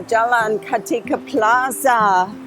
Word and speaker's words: Jalan Kartika Plaza: Sorry about my pronunciation. So, we are Jalan Kartika Plaza.